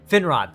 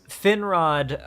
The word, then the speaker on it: Finrod: i can see it i can see how it's spelled finrad thank you um finrod um in that early opening scene where he's